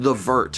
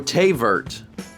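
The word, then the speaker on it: thé vert: I read The Vert, and I was like, what is The Vert? Tay. Sounded like a direct... Huh? Tay. Oh, Tay Vert. Oh, because it's French.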